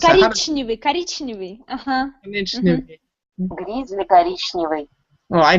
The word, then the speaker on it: коричневый: Korichnivy, or did I pronounce it? No. How do you pronounce that? Коричневый.